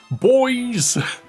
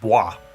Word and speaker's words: Bois: Boys! You know that freaking Heracross in Legend ZA? Its name is pronounced Bois. B-O-I-S. It's French. His name is pronounced Bois. However, everyone is just like, boys!